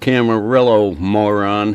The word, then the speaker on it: Camarillo: carmelio are very unprofessional it's pronounced Camarillo you